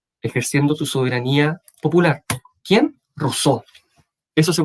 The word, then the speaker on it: Rousseau: Rousseau. Eso se pronuncia Rousseau.